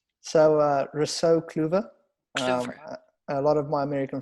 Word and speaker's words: Kluever: to know how it's said so we're so Coover a lot of my american friends call me short for as they pronounce it and i'm happy to be here